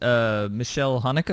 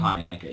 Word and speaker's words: Michael Haneke: Well, okay, so I wanted to get into this here because you mentioned Michelle Haneke. Is that how you pronounce his name? Michael Haneke, yeah.